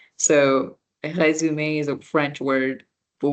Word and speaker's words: résumé: For example, the word resume, right? It's a French word, résumé, with that little accent because this is the A sound.